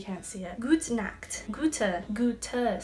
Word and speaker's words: Goethe: even though you can't see it good snacks Goethe Goethe C okay in English and you say